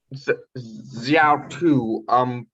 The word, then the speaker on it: Xiaotu: Xiaotu. Is that how you pronounce it?